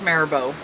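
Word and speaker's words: Mirabeau: Houston was voted in his first president with maribo and yes that is pronounced Tamara Bo you see it spelt it does not look like mayor Bo but it is pronounced maribo be Lamar it's a vice president stephen f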